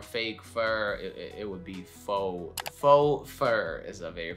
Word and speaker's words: faux: And honestly, the only word I can think of right now is faux. You probably see it on the screen right now and it's very confusing. Well, it's not English, at least that's what I think.